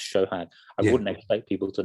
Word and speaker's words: Sohag: i will know because actually my name is spelt so had but it's pronounced shohan i wouldn't expect people